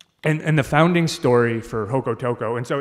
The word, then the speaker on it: Jocotoco: And the founding story for Jocotoco, and so it's spelled with a J, but it's Spanish, so it's pronounced with an H, Jocotoco.